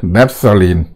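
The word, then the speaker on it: naphthalene: 그래서 우리가 말하는 나프탈렌이라는 거는 이렇게 냅살린 이렇게 발음하는 게 맞는 것 같아요.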